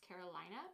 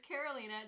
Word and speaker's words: Karolina: The way my name is spelled, sometimes people think it might be pronounced Carolina, but it's not. It's Karolina, just so we're all clear.